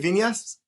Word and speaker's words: Vinas: Vinas?